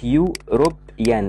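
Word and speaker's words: European: كلمه زي كلمه يوروبيان اللي كانت في الامتحان السنه دي، يوروبيان دي بادئه بالاي بس احنا بننطقها بالواي، فعشان كده بنقول ايوروبيان.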